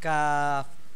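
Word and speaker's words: ق: উপরের যে জায়গাটা, ওই জায়গাটার সঙ্গে মিলিয়ে আমরা কাফ কাফ উচ্চারণ করব।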